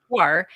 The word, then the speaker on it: Shuar: And Maximus says Shuar, and Magnus says it's one syllable. Shuar.